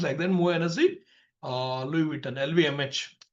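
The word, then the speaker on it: Moët Hennessy Louis Vuitton: वो LVMH जाना था, मो हेनेसी लुई विटन, इट्स a pronunciation like that, मो हेनेसी लुई विटन, LVMH।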